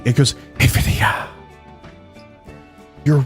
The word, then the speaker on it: Nvidia: had their keynote or as the CEO called it Nvidia which I think is wrong I'm going to call him out I think the CEO is saying the company name wrong and I'm probably correct about this because I would know better than the CEO um I always call it Invidia but they call it Nvidia so I'm going to